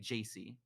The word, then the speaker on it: Jacý: supposed to do because my name is jc right it's not the two letters it's spelled j-a-c-y but i guess if you say jc like it's like it's